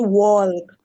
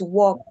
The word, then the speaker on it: walk: No, it's not walk. It's walk. Walk. I took walk, so it's not wall. The L is, yeah.